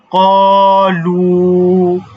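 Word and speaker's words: قَالُوا: পড়ব তাহলে কি হবে এখানে কিন্তু দুইটা ইউজ হইছে একটু দেখেন যে কফের পরে কিন্তু খালি আলিফ আছে তাহলে এখানে তো অবশ্যই এক আলিফ টান হচ্ছে কলু ঠিক আছে লাম ওয়া পেশ লু অর্থাৎ পেশের বাম পাশে জজমালা ওয়াও এটার জন্যও একটা টান হবে তাহলে উচ্চারণটা কি হবে কলু কলু কলু ঠিক আছে তো এইটা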